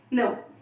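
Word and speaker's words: know: K-N-O-W means no. इसको हम pronunciation ऐसे करते हैं, no.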